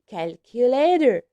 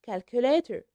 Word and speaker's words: calculator: calculator calculator calculator yes here we pronounce letter T like the Y because T in between two vowels which are yes a and O so we say calculator calculator not calculator okay notebook notebook if we